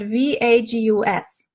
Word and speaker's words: vagus: It's spelled VAGUS. So it's not Las Vegas, it's our vagus nerve, and it's in our body.